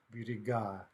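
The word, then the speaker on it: берега: So for example, if we take an in-stressed noun in a, like birig, biriga, biriga, okay, that's one of these nominative plurals in stressed ah. Well, that stress on the ending is going to carry over throughout the plural.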